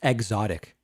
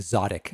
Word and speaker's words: Xotic: It's pronounced exotic. I prefer saying Zodic.